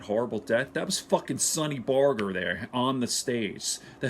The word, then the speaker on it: Barger: my favorite people Sonny Sonny Barger some people pronounce his name Sonny Barger but it's Sonny Barger I think he's still alive is living in